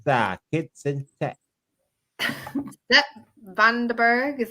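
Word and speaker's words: van den Berg: know what we've got it's it's that kid vanderburgh is how you pronounce it yes obviously he played really well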